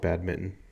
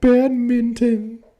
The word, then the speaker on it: badminton: and stuff I called it I call it bad Mitten bad Mitten you hear that bad Mitten you